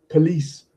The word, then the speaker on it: police: syllable, like football, problem, not police, because police has the second syllable is stressed, etc.